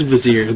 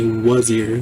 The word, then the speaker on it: Vizier: Is it not Vizier? It is Vizier. They say Wazir.